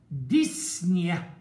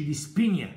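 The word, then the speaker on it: dyspnea: طب ديسنيا، وهنا البي سايلنت يا اولاد ما تنطقش، يعني ما نقولش ديسبينيا، مش عاوز العبط ده، ديسنيا كان ما فيش بي، ديس في اللغه يعني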